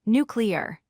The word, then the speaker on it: nuclear: Word 7 is nuclear. It has 3 syllables, nuclear.